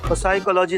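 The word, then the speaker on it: psychology: तो करते पिसाई का साइकोलॉजी नहीं साइकोलॉजी साइलेंट होता है तुम हो जा साइलेंट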